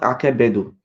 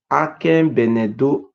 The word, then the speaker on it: Akenbenedo: This is not Akebedo. The real pronunciation is called Akenbenedo, Akenbenedo, Ado, Akenbenedo.